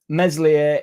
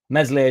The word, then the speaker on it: Meslier: Meslier is the worst keeper in the league.